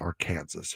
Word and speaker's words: Arkansas: First of all, it's pronounced Arkansas.